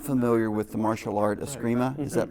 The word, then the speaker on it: Eskrima: about, I'm not familiar with the martial art Eskrima. Is that pronounced That's correctly?